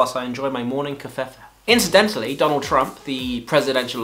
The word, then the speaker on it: Covfefe: Oh, and I believe that the V in Covfefe is silent.